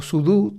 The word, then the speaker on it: sudo: con su pero después cuando llegó sudo eh o sudu como como como se pronuncia cierto eh Ya fue